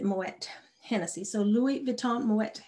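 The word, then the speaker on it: Moët: is uh moet hennessy i always think that t is silent but i think you pronounce it moet hennessy so louis vuitton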